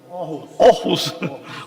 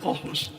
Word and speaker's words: Aarhus: Universidad de, no sé pronunciar, Aarhus, ¿cómo se pronuncia? Aarhus. Aarhus.